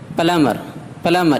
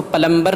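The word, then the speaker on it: plumber: Date قرض۔ Climb چڑھنا، پلمر اس کو پلمبر نہیں کہیں گے، پلمر نل ساز۔ نمبر 2، سی سائلنٹ۔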